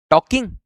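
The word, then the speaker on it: talking: the phone right now ही इज टॉकिंग ही इज़ टॉकिंग L silent है ही इज टॉकिंग ऑन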